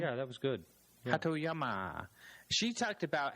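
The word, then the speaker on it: Hatoyama: in a book saying that the way I pronounced the name. Yeah, that was good. Hatyama.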